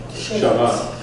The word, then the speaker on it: Shabbat: In Sephardi, we would say what? Shabbat. Okay?